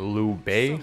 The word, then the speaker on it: Liu Bei: time we were on Lou Bay I believe would be the appropriate pronunciation of this boss this boss is using